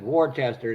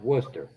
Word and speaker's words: Worcester: It's even though you look at it, it says Warchester, it's pronounced Worcester.